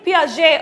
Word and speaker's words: Piaget: g uh plus 50 she's absolutely right jean piaget or joe piaget is how some of them pronounce it he is actually the person who